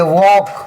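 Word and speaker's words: walk: यह देखिए के के पहले एल साइलेंट है तो एल को हम नहीं पढ़ेंगे बल्कि क्या पढ़ेंगे डब्ल्यू ए एल के वॉक क्या पढ़ेंगे वॉक के के पहले एल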